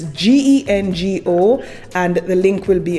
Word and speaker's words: Gengo: The next company is Genco. And again, I may be mispronouncing this. It's Gengo, and the link will be on my Patreon.